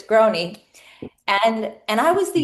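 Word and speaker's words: Grohne: And so the last name uh was Groy. G R O H N E. Um it was hard to pronounce. So you always knew when a telemarketer called if they asked for Mrs. Groan.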